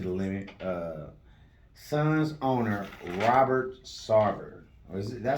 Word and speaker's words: Sarver: So, speaking of pushing it to the limit, Suns owner Robert Sarver.